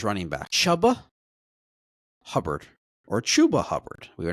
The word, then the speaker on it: Chuba: read was that it was it's actually spelled c hu ba.